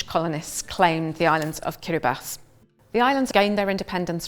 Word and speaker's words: Kiribati: In Kiraabas language, that's how you would pronounce the island's name, Kiribas.